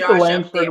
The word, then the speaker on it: Langford: You got Langford with Yeah, you were close. There's a G in there after the end. So, it was Langford.